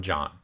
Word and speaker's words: Jan: next question comes from John it looks like Jan but is pronounced John so John wants to